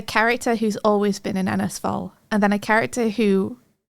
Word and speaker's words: Ennersval: I also had a hard time remembering to pronounce it Ennersval because I always wanted to say Enversal for some reason. Ennersval. Ennersval. Enversal.